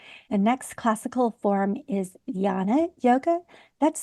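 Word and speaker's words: Jnana: love over anger the next classical form is Jana yoga that's spelled j n a n a and it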